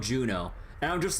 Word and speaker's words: Juno: N A, but then there's a a location that's spelled J U N O, so then Yuno. No, it's called Juno.